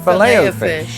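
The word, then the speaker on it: Filet-O-Fish: In America, it's pronounced fileo fish the French way. With a lot of French derived words, I do like to try to get the pronunciation closest to French as possible. So, fileo fish just sort of caught on.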